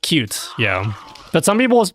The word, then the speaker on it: Qt: It's I'm pretty sure it's pronounced cute. Crossplatform software framework is pronounced cute.